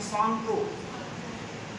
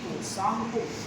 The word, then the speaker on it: Tsangpo: है, इसका नाम है सांगपो, TSANGPO, सांगपो, T silent है, तिब्बतन भाषा में सांगपो, यानी ब्रह्मपुत्र को हम सांगपो के नाम से जानते हैं तिब्बत में।